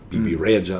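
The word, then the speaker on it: Bebe Rexha: You got BB Rexa, BB Raja is how you pronounce it in Albanian.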